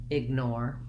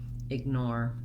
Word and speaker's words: ignore: my american r playlist once i can say or i'm going to add my n nor and then that's where my length is then i'm going to add my short unstressed sound with my voiced g ignore ignore then when we go